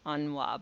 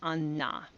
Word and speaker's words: Anna: ningo Ana that's pronounced I know it looks like anwa but it's Anna okay um and that